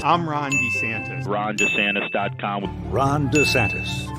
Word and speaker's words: DeSantis: pronounce it DeSantis well since he ran for governor this has been an issue because he pronounces it differently all the time and it's come up again listen to this Ron DeSantis I'm Ron DeSantis Ron